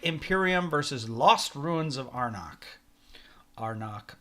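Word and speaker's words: Arnak: versus lost ruins of arnach arnach our neck there is no right way to pronounce it yeah I saw the designers pronounced in arnock so I think that's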